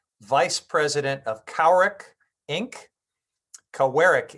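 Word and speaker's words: Kawerak: President of cowrick Inc cowarick Inc I believe is the proper pronunciation I've I've been reminded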